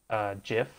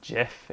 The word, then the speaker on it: GIF: Kind of like GIF and JIF. Like, apparently it's pronounced JIF, but it's not JIF, it's GIF.